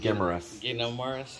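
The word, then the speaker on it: Guimaras: Gimerus.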